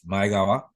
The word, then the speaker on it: Maegawa: It's not Maegawa, it's Maegawa.